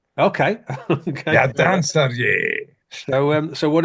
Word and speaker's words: Radancer: Do you know how to say it? Radancer. Radancer. Okay. Ah, it's Scottish for the dancer. Okay. Okay. Radancer.